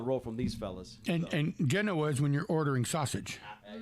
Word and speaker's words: Genoa: now I call home Genoa, Illinois, which is like Genoa, only if you say it wrong, it's Genoa.